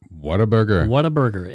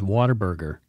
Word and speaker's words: Whataburger: Whataburger. And people mispronounce it as Waterburger. Whataburger.